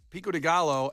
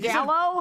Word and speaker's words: pico de gallo: eggs, avocado, pepper jack cheese, jalapeno tortilla strips, pico de gallo, and mayo on a bio bun. What' I say? Butchered. Pico de gallo. Yeah. What' I say? G. What did you say? Gallow.